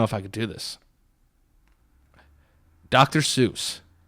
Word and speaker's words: Seuss: Seuss like Cat in the Hat dr. Seuss yeah that's wrong his name is zoo is dr. Suez no it's dr. Seuss yes he's doctor so he's doctor sois like soy sauce yes soy sauce a